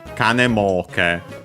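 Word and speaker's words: 金儲け: The accent becomes kanemoke. So yeah, the accent is on the mo. So the first mora of the second word part of the compound, yeah, a typical spot for the accent of compounds.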